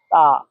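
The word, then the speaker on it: 他: তা তা তা এটা বলার সময় একটু টেনে একটু লম্বাভাবে বললে তাহলে উচ্চারণ সুন্দর হবে।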